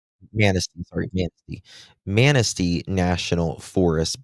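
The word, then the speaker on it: Manistee: uh, wooded areas, and, uh, how do you pronounce this? Uh, is it Manatee? Manasty, sorry.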